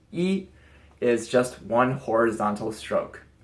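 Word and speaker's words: 一: is the number one yes in Chinese one pronounced E is just one horizontal stroke and while we're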